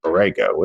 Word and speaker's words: Borrego: Borrego is how you say it.